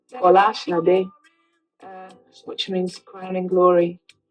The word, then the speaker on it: Bola Sade: true Nigerian name, or the true Nigerian pronunciation, as close as I can get to it, is Bola Sade, which means crown in glory, and it was abbreviated.